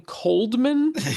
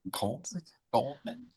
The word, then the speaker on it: Goldman: uh you know, oh the the D is silent, so it's like cuz Yeah, cuz they're kind of saying coldman. Yeah, Goldman.